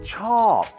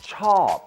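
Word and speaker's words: ชอบ: ผ ม ช อ บ ค ุ ณ น ะ The Thai word for like is ช อ บ a falling tone. ช อ บ ผ ม ช อ บ ค ุ ณ I like you.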